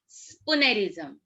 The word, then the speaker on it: spoonerism: Spoonerism. What is that? Spoonerism. How you are going to pronounce the word? It's not spoonerism. It's spoonerism.